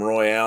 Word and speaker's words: Royale: That doesn't have anything to do with the I pronounced it right the first time, Royale.